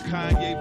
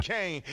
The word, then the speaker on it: Kanye: It's Kanye, but some of my plastics still say Kane.